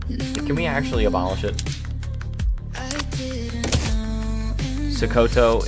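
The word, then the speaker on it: Sokoto: Sakoto is the correct pronunciation.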